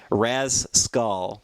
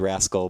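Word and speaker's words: Rasecul: Storm Pacific Rift was Raz skull or as you as he actually spells it r-a-s-e-c-u-l so I would have said Rascal but that's not how uh that's not how Beast wants it pronounced he says thank you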